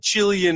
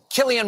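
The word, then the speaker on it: Cillian: Chillian Murphy. Should get more work. You know that's not how you say his name, Mhm. You know, you do in Ireland. You know it's not Chileian.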